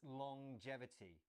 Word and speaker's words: longevity: It's a little bit strange. It's longevity. So we have the ng at the end of long as normal, but then there's this j sound as well.